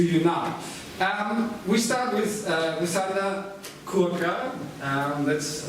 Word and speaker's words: Rusanda Curca: We start with Rusanda Curca, that's how it's pronounced, how it works.